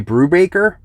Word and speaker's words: Brubaker: we have the single issue of velvet by brubacher i actually said it right this time it's